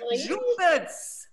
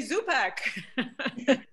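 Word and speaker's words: Zupec: It's Zupets. Zupets. Why do you say Zupek? Like, oh my gosh, this is the way it's supposed to be pronounced.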